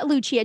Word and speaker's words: Lucia: how do I spell Lucia again? So it's like St. Lucia, the island, is how you spell Lucia. I just say it the Italian pronunciation.